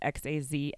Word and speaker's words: Xazmini: My Instagram is at Xazmini, which is Xazminnie. But my name's pronounced Xazmin.